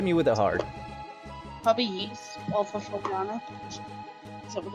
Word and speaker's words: Ys: Yeast. It was a JRPG. It's Really? literally YS, but you pronounce it yeast.